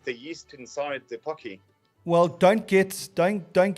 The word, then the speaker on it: Pocky: is that pokey well i thought at first when i saw it was pokey day and i thought that's quite quite quite great because it's singles day and it's pokey day at the same time i was like okay that works but i don't think that's how you pronounce it i think it's pocky days p-o-c-k-y yep do you